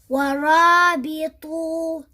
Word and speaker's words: وَرَابِطُوا: So we don't say وَرَابِطُوا wa, like some people. They think that you need to stretch this waw because there's an alif after it. No, this alif is just there to show you that this waw is waw al-jama'a. Nothing else.